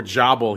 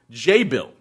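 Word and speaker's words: Jabil: task for my pronunciation I said before jabble he said it's Act jabble is a tech name and it's actually pronounced J Bill and they pronounce they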